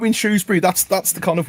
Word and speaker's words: Shrewsbury: kind of one liner there is no o in Shrewsbury it's all that's an age thing that's a that's an oldfashioned comes from old pronunciations of a town that's uh nearly a thousand years old it's cool um right